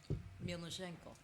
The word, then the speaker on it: Mielniczenko: Melnishenko. Milchenko. That was very I would close. never gotten that. But you have to say it like Milchenko. Milchenko. Like you're slightly threatening.